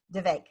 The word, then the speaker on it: Vivek: it again for me Vivek yep the the way I get people to remember it is it's the vacant rhymes with heartache like the one you